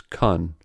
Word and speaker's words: can: said can or can't first can in its normal use is a weak form so its vowel is reduced to a schwa by contrast can't is a full strong sound so its vowel is long and clearly articulated in other words can is Khan but can't is can